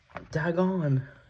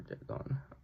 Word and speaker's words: Dagon: Reanimator, From Beyond, Dolls, Pit and the Pendulum, Body Snatchers, Castle Freak, The Dentist, Dagon, or Dagon, depending how you pronounce it, King of the Ants, Stuck, Edmund, just a big name in Hollywood.